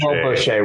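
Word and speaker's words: Bosché: It's pronounced Bochet. Bochet, whatever.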